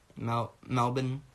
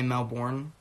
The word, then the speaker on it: Melbourne: Either LA or like Sydney in Australia or, you know, Melbourne. Americans always get roasted for saying, because we always say Melbourne, but I guess it's Melbourne. That's how they say it.